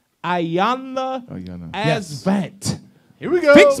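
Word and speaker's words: Iyanla Vanzant: Ayanna Asvant. Yes. Here we go. Fix my life. Fanzant.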